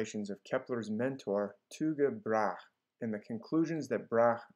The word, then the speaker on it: Tycho Brahe: different ways such as tico brahe or but i prefer to follow the pronunciation of the danes themselves who pronounce it like